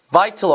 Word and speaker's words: vital: T 발음은 여러분이 북미 발음 기준으로는 T를 좀 빼고 발음이 vital, 리을 발음처럼 발음이 되죠. 꼭 T로만 발음되는 건 아니고요. 이거 이제 북미 영어에서 flap 사운드라서 설탄음이라고 말씀을 드렸습니다. butter가 아니라 butter 되는 것처럼 똑같은 발음. 다시 해보세요. vital이 아니라 vital.